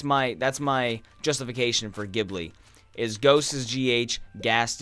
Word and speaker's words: Ghibli: Gib really cuz I've again I've heard it as Ghibli and the GH makes me think it's gift you know like ghosts or ghast that's that's my that's my justification for Ghibli as ghosts as gh